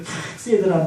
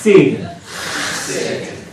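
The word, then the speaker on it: חסד: 인자라는 말이 히브리 말로 이게 카세드라는 말인데 이 카세드라는 말이 발음이 참 고약해요. 카세드. 웬만큼 신앙생활 오래 하신 분들은 다 들어보셨을 만한 단어인데 한 번만 따라 할 텐데요. 어떻게 하냐면은 이게 가래에 뱉기 직전이에요. 그래서 이렇게 되는데 강도 조절에 실패하시면 앞에 분한테 피해야 됩니다. 일단 너무 약하게 하면 발음이 안 들려요. 기도 많이 하시고 한 번만 따라해 주세요. 세이드. 네, 가래는 덜 뱉어요. 히브리어 단어가 이게 후두이 발달돼가지고 목젖을 막 긁어요.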